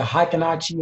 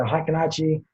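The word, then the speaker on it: Heikin-Ashi: Now, this strategy basically deals with the candles that I always trade with, the Heikinaichi or the Heikinaichi, different ways to pronounce this candles, right?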